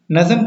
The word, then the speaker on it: نظم: تھی غزل کی تعریف۔ نظم کی تعریف پڑھتے ہیں۔ نظم نہیں بلکہ جو درست تلفظ ہے وہ اس کا یہ ہے کہ نظم، ٹھیک ہے۔ نظم فارسی